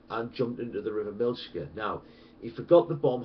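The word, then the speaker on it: Miljacka: Okay, it is near the River Milchka, which is spelled Miljagger, and basically the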